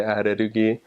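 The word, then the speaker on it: アレルギー: accents, like McDonaldo, or like allergies, they would say arerugi, and that was really hard for me to get because I always just wanted to say it like the English way.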